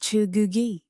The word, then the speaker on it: Cheugugi: He builds the Cheugugi, pronounced Cheugugi, a rain gauge of exact volume.